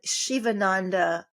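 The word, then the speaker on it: Sivananda: of hata yoga um Shivaandanda lineage and even though it's pronounced Shiva it's spelled s i va n a n da lineage uh integral yoga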